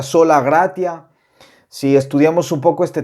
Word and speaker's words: sola gratia: por gracia verdad que en latín a esta frase se pronuncia sola gracia si estudiamos un poco